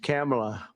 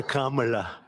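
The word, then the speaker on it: Kamla: It's Cam, right? Cam as opposed to calm.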